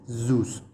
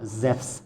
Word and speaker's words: Zeus: all then and yes i refuse to pronounce it zeus i don't i'm not a big fan of that pronunciation that english-speaking people have given the god zeus or zephs according to greek continue to this someone